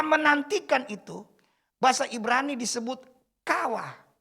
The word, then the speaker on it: kawah: Kata menantikan itu, bahasa Ibrani disebut kawah. K-A-W-A-H. Kawah. Jadi bacanya kawah. Jadi agak panjang tuh A.